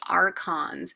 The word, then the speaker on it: archons: officials that we have here this word is pronounced archons and they took care of religious events like